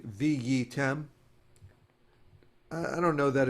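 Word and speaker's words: והייתם: So I'll do it by syllable. Vihiyitem. Okay. Vihiyitem. But the hey is very Soft. soft, and fast. Short, yeah. Vihiyitem. So often people will just say viyitem.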